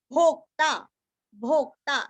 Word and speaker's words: भोक्ता: और आधा द भृत भोक्ता जैसे वक्ता वैसे यहाँ पे भोक्ता शरीर भूत भृत भोक्ता